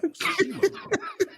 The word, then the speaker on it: Tsushima: It's Ghost of Tsushima.